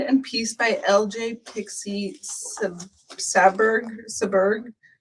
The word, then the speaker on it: Saberg: It finishes at 70 by 80 and it was designed and pieced by LJ Pixie Saberg Saberg Saberg. I'm sorry if I mispronounced Sayberg. Sayberg, yes.